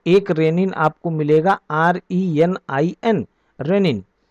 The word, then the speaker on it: renin: रेनिन आपको मिलेगा RENIN, रेनिन। दोनों का प्रोनाउंसिएशन जो है वो सेम है, लेकिन इसकी स्पेलिंग अलग है और उसकी स्पेलिंग अलग है।